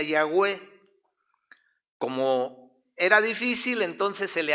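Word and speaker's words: Yahweh: en el hebreo antiguo no existían vocales entonces es una y una h una w y una h se pudiera decir que se pronuncia yagüe era difícil entonces se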